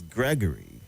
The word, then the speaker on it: Gregory: right we've corrected you and the way you pronounce the name it's Gregory and not what you say all right so please take correction is Peter Gregory Obi.